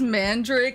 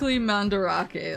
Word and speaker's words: Mandarake: OG's on here is it not just Mand Drake like the plant not it is specific mandarake like that's how it's pronounced women the world over